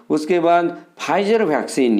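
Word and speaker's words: Pfizer: उसके बाद फाइजर vaccine, ये पी साइलेंट रहता है, इसको हम लोग पढ़ते हैं फाइजर वैक्सीन।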